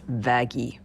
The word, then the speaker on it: Vaggie: uh backstory is very short VY actually it's pronounced vaggie M no anyway you sure